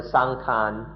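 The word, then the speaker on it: saṅkhāra: For example, in Thailand, most often sankhara just means the body. Thai people speak of sankhara or sangkhan in the Thai pronunciation.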